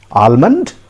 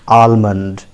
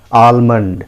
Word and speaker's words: almond: is pronounced as almond almond l is silent here friends silent okay so never pronounce it almond no keep l on